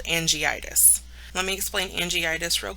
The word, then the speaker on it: angiitis: together instead of just dropping another letter so angiitis is how it would be pronounced terms related to benign neoplasms remember benign